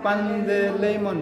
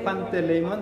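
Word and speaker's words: Παντελεήμων: N tambah T bacanya D. Jadi panda. Misalnya Pandeleimon tidak dibaca Panteleimon tapi Pandeleimon. Ya.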